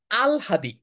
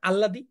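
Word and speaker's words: আহ্লাদি: হসন্ত এটার উচ্চারণ হচ্ছে আল হাদি আমরা এটাকে বলি না আল্লাদি আল্লাদি বলি আহলাদি বলি এটার উচ্চারণ হচ্ছে আল হাদি সরেয়া ল ল নিচে একটা হসন্ত হ আকার দরশকার আল হাদি এটা একটু ব্যতিক্রম এই কারণেই এটা এডমিশন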